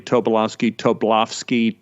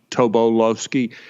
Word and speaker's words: Tobolowsky: wow because i noticed people in our family pronounce the name differently tobolovsky toblofsky different ways and my uncle nathan said you could pronounce it any way you want because it's not really